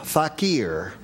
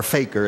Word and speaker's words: fakir: play gunga ding game the Indian fakir or fakir as they say that's what Webster's say I give it to you both the primary and the secondary pronunciation in case there are